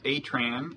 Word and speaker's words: Atran: and you are scott atran is that how you pronounce your last name it is right i'm scott i've been